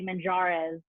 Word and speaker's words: Manjares: So anytime I'm being introduced, I always give a phonetic. So I say MON-HA-DES. So people say Man Ha, and that's easier for people.